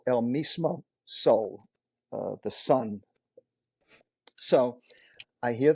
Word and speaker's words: El Mismo Sol: Jennifer Lopez, J Lo, in El Mismo Sol. Am I pronouncing it right?